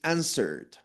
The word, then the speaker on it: answered: Andrea y todos, chicos, esta palabra, hay mucha confusión a veces en la pronunciación porque pronunciamos usualmente, como vemos la W, pronunciamos answer, right? Pero en esta palabra, mucho ojo, la W es muda.